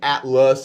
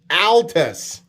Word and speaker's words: Altus: they were correcting that i was saying atlas and not at last and i was like whatever you know and i made my whole pronunciation joke no i was really mispronouncing it it is altus oh my gosh that's